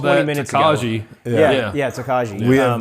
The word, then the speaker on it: Tokaji: and they use it to age something called tokaj. Is it tokaj? Tokaj. Tokaj wine. That's spelled Tokaji. I was mispronouncing that all the way up I've until called 20 that minutes Tokaji.